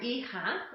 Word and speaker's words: hija: or daughter to you, is hijo or hija, okay, that H is silent, hijo or hija, y